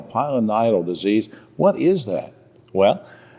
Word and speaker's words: pilonidal: folks at home I'm having trouble you know pronouncing it it's p i l n d a l pilonidal disease what is that well if you break